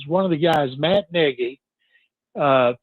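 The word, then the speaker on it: Nagy: I keep hearing as one of the guys, Matt Negi, uh, spelled Naggie, but pronounced Negi, uh, back with Kansas City that Beansi was there forever that he's a candidate.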